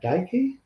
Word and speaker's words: Chimera Dike: I guess, and I'll destroy the pronunciation of his name, Chimera Dike was the wide receiver. DK, I think it's DK, but it's Dike. Correct.